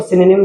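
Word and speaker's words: synonym: इसको सिनोनिम बोलते हैं इंग्लिश के अंदर। सिनोनिम इसको गलत पढ़ते हैं तो इसको पढ़ते हैं सिनोनिम। याद रखें इसका सही प्रोनाउंसिएशन यही है।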